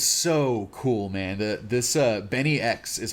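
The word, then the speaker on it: BNYX: This Benny X is how you pronounce the producer's name on Fafo, and he's I'm gonna look him up, man.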